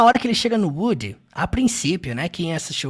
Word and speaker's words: Woody: Bom, como vocês podem perceber, eles não pronunciam Woody igual no português, né? No filme dublado eles falam Woody, Woody. No inglês eles falam Woody, Woody. É uma característica muito comum do inglês americano. Afinal, o filme a história se passa em solo americano. Então, Now, Woody. é muito comum levar o som do D ao som do R.